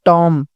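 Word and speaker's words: tomb: है फिर यहां पर टॉम टॉम बी साइलेंट होगा तो बी के नीचे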